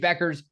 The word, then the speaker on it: Bueckers: Beckers that is Ryan uh this is Paige Beckers earns her first career double double in the